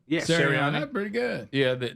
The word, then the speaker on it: Sirianni: Sirianni? Yes. Sirianni.